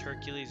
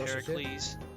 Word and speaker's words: Heracles: Not pronounced Hercules, it's pronounced Heracles.